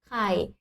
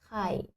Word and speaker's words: ไข่: Et à savoir, très important, en français, il n'existe pas de son KH aspiré comme en thaï. Le son que. C'est comme le KH en français, mais c'est soufflé. Ah, la technique simple, c'est comme le K en français, mais rajouter un souffle. Que, que. Et tu peux mettre la main devant ta bouche, comme ça, tu vois si tu prononces bien ou pas.